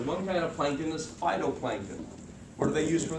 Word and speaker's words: phytoplankton: You can call them photoplankton if you want, but they're kind of pronounced phytoplankton.